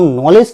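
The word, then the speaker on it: knowledge: नहीं बोलते, तो हम नॉलेज क्यों बोलते हैं, क्योंकि के ए साइलेंट लेटर है।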